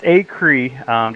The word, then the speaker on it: Acree: Is it Acree? It's Acree. Just think a creek without the K.